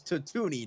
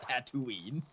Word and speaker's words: Tatooine: toonie goddammit says yes he pronounces it as tatuni not tatooine and between this and